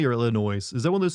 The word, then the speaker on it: Illinois: Illinois don't put an S on the end s is silent but how do we